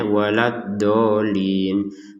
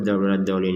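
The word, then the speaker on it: ولا الضالين: Jadi jangan sampai kita membacanya waladdallin, kemudian lamnya nggak ditekan, waladdallin, nggak ada tekanannya, kan harus ditekan huruf waladdallin ini, waladdallin.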